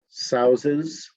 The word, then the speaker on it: souses: Line 14, souses. That's sort of with a Z sound as your second S.